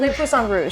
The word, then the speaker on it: Le Poisson Rouge: Le Poisson Rouge, How do you say that?